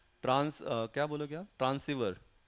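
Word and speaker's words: transceiver: ट्रांस क्या बोलोगे आप ट्रांसिवर ट्रांस रिसीवर वर नहीं ट्रांसीवर ट्रांस ट्रांस ट्रांसमिट करना और रिसीव करना ट्रांस रिसीवर आर आर are silent है आर नहीं ट्रांसवर है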